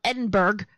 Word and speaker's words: Edinburgh: It's spelled Edinburgh, but anyway, Edinburgh.